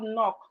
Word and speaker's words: knock: We have knock. The K is also silent.